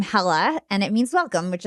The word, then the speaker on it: Hala: Arabic, you pronounce my name Hala, and it means welcome, which is I'm a podcaster.